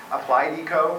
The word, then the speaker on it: Applied Eco: Applied Eco rhymes with Zydeco, and you can make a donation.